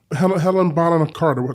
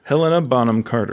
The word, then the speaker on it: Helena Bonham Carter: Helen Bonham Carter. Say her name? You want to try that again? Say it for me. Take 2. Helena Bonham Carter.